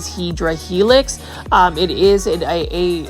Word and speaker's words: Hedera helix: for the first time I purposely mispronounce hadera helix or English IV hedra Helix um it is a